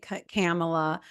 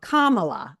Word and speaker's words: Kamala: I continue to say I trained myself to not say camela and I was saying Cala because we are a refined respectable organization here and then to come to find out that it's actually Kamala and I'm like wait